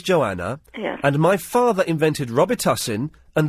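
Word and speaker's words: Robitussin: and my father invented Rober tusin and the correct way to pronounce it is Robie hin could you do that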